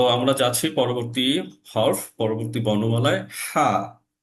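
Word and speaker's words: حاء: হা এর উচ্চারণটা একটু আপনার আমার কাছে শুনবেন, আমি হাটা কিভাবে উচ্চারণ করছি। হা, হা, হা। কি হচ্ছে, আমার যে গলা, তো আমি আবার বলছি, আমি উচ্চারণটা কিভাবে করছি একটু দেখবেন। হা, হা। এই যে আমি হাটা উচ্চারণ করছি ঠিক গলার মাঝে, মাঝ থেকে বাতাস বেরোচ্ছে এবং কিছুটা শ্বাস বেরোচ্ছে, বাতাসটা বের হয়ে যাচ্ছে।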